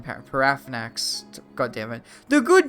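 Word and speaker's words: Paarthurnax: Well, see, like think of Paramax, right? That's not how you pronounce his name. Parafnax.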